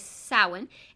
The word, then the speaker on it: Samhain: and start with samhain saoin kind of pronounced a little differently than it's spelt and it's almost spelt as if it says samhain but that's not the way it's pronounced it is samhain and it is celebrated